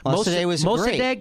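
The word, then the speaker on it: Mosaddegh: First democracy, and Mossadegh is how you say it.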